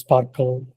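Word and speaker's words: SPARQL: acronyms rdf owl and Sparkle which is pronounced as Sparkle right what does it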